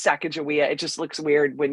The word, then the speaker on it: Sacagawea: It's Sacagawea. It just looks weird when you like spell it.